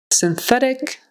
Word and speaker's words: synthetic: and then the th make sure you say th and not a t synthetic synthetic acrude acree